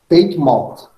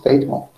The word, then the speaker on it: Teignmouth: Então ele foi para Teignmouth, acho que é essa a pronúncia, Teignmouth.